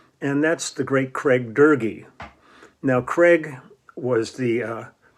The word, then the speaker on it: Doerge: think actually shaker heights dergy which rhymes with fergie they they put on there because nobody can ever pronounce his name i always